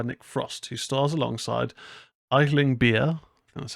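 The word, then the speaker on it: Aisling Bea: and written by Nick Frost who stars alongside idling beer that's how it's pronounced Sebastian Croft and Maisy airs the film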